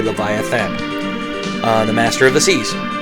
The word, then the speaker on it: Leviathan: attacked by Leviathan, and I know they spell it Leviatan, but it's actually Leviathan, the master of the seas.